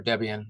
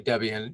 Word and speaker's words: Debian: with any at debate or Debian I'm sorry I'm putting the accent on the wrong syllable the if you're dealing with any Debian you have to do